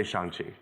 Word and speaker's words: Shang-Chi: make sure we all know how we actually pronounce the title of yourself yeah um i would say shanxi um i think you are extraordinary in it